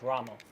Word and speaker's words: Ramo: made this famous listen the two key community knows him by right but it's actually pronounced Rama but since we're playing